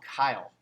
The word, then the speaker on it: chyle: Now, fatty lymph is actually called chyle. No joke, you guys. Chyle, but it's spelled with CH, right? So chyle with a CH. So it's kind of like, it's spelled like child, but it's pronounced Kyle.